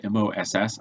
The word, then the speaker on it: MOC: MOC, I don't know the spelling of it, but it's pronounced MOSS.